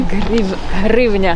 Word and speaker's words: hryvnia: Hryvnia.